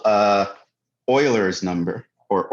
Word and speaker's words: Euler: not the natural number he is called uh euler's number or euler's constant right the e comes from the first part of euler's name pronounced euler not euler like a lot